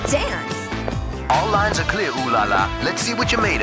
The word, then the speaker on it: Ulala: featuring the iconic reporter ulala oh sorry o laa is her name it's spelled UL l a l a hey there Space Cats